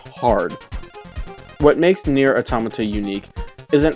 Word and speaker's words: Automata: oh one last thing it's automata as in the plural of otamatone and don't worry I've